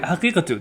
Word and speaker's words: Haqiqatjou: Daniel Haqiqatjou? When you said that last name, Am I saying it Yeah, right? You've heard Haqiqatjou. That's fine. That's how it's said.